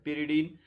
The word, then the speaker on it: pyridine: This is the pyridine, or we can also pronounce as pyridine.